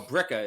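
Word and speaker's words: Billerica: suburb of Boston man oh bricka is how we pronounce it um although the new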